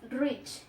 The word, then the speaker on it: rich: Y la CH, siempre cuando está en una palabra se trata de hacer como una mini pausa que se toma como una ¿qué? Como una T. Como si hubiese una T antes de pronunciar eso. Porque ya no es como tanto sh, sino es rich, más como así, como una pequeña pausa antes exacto.